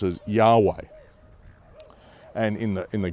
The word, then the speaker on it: Yahweh: just four letters, YHW, which we've come to pronounce as Yahweh.